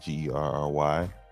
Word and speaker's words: Gerry: Jerry. I think it's pronounced Jerry with a G, Gerry, Mr.